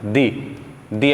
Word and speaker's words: the: तो vowel sound यदि आ रहा है तो वहाँ उच्चारण होगा दी, कॉन्सोनेंट साउंड आ रहा है तो वहाँ उच्चारण होगा दा।